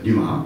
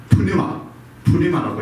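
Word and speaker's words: πνεῦμα: 그래서 이제 영어에서 이제 발음할 때는 뉴마라고 이렇게 표현해요. 뉴마. 그런데 이 그릭에서는 원어에서는 두 칸선들을 자음을 발음을 해줘야 돼요. 그래서 푸뉴마라고 이렇게 우리가 발음을 해야 됩니다.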